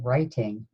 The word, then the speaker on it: writing: say the sounds in writing brah I a king we could just do gig brah I ding okay first sound run we are also going to be using our silent letter pair W R okay next sound let's